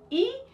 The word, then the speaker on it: y: does it even mean that y that's actually pronounced e well you're gonna find